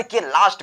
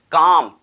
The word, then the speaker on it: calm: फिर समझाता हूं कि जब भी किसी की वर्ड के लास्ट में LM का यूज हुआ हो, यल और यम का यूज किया जाए तो यल हमारा साइलेंट हो जाता है, केवल यम को पढ़ा जाता है।